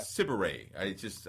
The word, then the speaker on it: Sidibe: Sidibe. I always mispronounce her name.